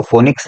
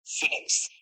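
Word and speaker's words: Phoenix: तैयार होती है सर फिनिक्स पी एच ओ एन ई नहीं पी एच ओ पी एच ओ प एन और नौ नंबर आई एक्स इसको कहते हैं सरकार फोनिक्स नहीं फिनिक्स चलते हैं अपनी अगली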